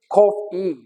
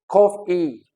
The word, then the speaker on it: coffee: The second one is coffee, coffee, coffee. The third one is table, table, table. Okay, so these are nouns: water, coffee, table, and the stress is on the first syllable.